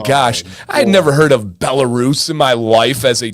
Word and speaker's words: Belarus: He said that it's pronounced uh uh Belarus, not Belaris.